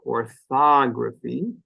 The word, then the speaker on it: orthography: syllable so I'll write that one out here orthography the stress comes on fog and that syllable stands out because it's louder it's longer